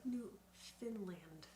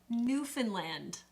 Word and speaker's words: Newfoundland: of them are wrong how is it pronounced newfoundland like new yeah yeah see not like not like finland new finland finland doesn't exist newfoundland can't see shark